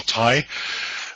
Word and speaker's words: Tighe: as my uh introduction my name is Tai uh the name is spelled a little bit funny it's an Irish